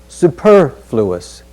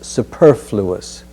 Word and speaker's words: superfluous: us over the ocean superfluous superfluous superfluous over the ocean so super the stress is on the second syllable fluous superfluous let's look next at